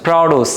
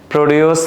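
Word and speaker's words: produce: বলবা ইন্ট্রোডস নট ইন্ট্রোডিউস তাইলে এটা কি হবে তোমরা বল এটা কি প্রডিউস বলবা এটা হচ্ছে প্রডস কি বলবা প্রডস এটাকে কখনোই প্রডিউস বলতে যাবা না ঠিক আছে তহলে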